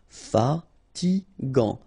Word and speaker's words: fatigant: In that case, you've got A and so it's gant. Final T not pronounced. Fatigant.